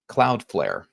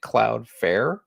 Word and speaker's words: Cloudflare: Uh earlier, if you weren't part of my earlier live where I was going over the book chapters, uh I mispronounced Cloudflare. I was calling it CloudFare.